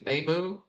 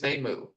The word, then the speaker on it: Nemu: instance where somebody's named Nemu, they don't shorten it to Nam in the subtitles or in the dub. Her name is Nemu, not Nem.